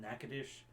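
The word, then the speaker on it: Natchitoches: both have a Nacogdoches but in Louisiana it's called NACA dish and in Texas it's not pronounce it correctly Nacogdoches and they both mean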